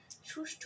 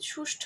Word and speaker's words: সুষ্ঠু: দ্বারা রচিত প্রবাহমান ভাষার সুষ্ঠ বিন্যাসে কবিতাটি বাংলা সাহিত্যের এক অনন্য সংযোজন কিন্তু সুষ্ঠ হবে না। এখানে কিন্তু সুষ্ঠু হবে। আমরা অনেকে বলি সুষ্ঠ কিন্তু আসল উচ্চারণ হয় সুষ্ঠু।